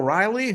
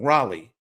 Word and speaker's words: Raleigh: They have the breakout star of 2025 and in and Cal Riley who I always say his name wrong. Raleigh as in North Carolina.